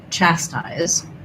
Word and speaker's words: chastise: Okay, so for chastise, we have first syllable stress. Chastise. And then my letter S says Z in the letter say its name. So the I says I in chastise or ride because it's the two